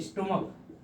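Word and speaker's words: stomach: अब जैसे कि एक वर्ड लिखिए स्टोमक, अब स्टोमक से छोड़ी करते हैं इसको स्टमक।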